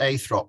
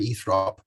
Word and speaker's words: Eythrope: confirm that sure it's i think it's pronounced eighth rock maybe eath rob um but it's it's